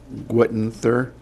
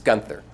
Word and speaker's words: Gunther: first will be Witten Thur did I I'm sure he slaughtered that it's okay it's a silent E it's Gunther Gunther yes yeah my name